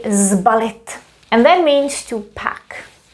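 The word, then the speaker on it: sbalit: say slip it but here we do say zbalit and that means to pack ballet to be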